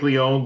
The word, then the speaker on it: Leone: The movie starts off with Frank Leone looking at photos and. Now, do you like Leone or Leone?